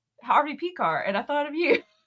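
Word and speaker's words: Pekar: Harvey Pecar.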